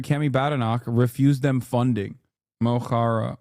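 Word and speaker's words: Mo Chara: Moara. Mohara is how you pronounce it.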